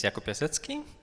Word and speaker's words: Jakub Piasecki: My name is Jakub Piasecki. I'm a lead developer for Centauro. Yeah, we both have Polish names, but only he has Polish pronunciation.